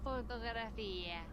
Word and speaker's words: fotografía: Fotografía. Fotografia. Fotografía. Fotografia. It's not fotografia, but fotografia. Fotografía. There is a stress on the I pronunciation here.